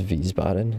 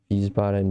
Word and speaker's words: Wiesbaden: it to you, but I think it was Wiesbaden is how you say that. Wiesbaden, Germany.